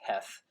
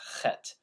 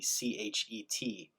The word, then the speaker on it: Chet: Although it's transliterated in the prayer book as Heth, it's not pronounced Heth, it's pronounced Chet. A better transliteration would be Chet, with the CH being pronounced like the end of Johann Sebastian Bach, or the beginning of the word chutzpah, chutzpah.